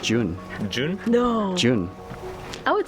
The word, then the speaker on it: Zhiyun: i don't have desire i think it's pronounced june june no june i would say i think it's pronounced june other ways i find